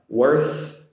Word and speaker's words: worth: So I want to put that sentence together only to show the differences in pronunciation of worth and worse. TH for worth and the S sound for worse. Practice that one. Worth, worse.